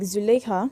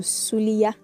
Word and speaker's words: Zuleika: Yorubas will take a name like Zuleika and turn it to Suliya.